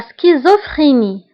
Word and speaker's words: schizophrénie: انفصام الشخصية la schizophrénie. La schizophrénie. La schizophrénie. فهنا أيضا CH كنطقوها بك سكيزوفريني و PH كنطقوها بF.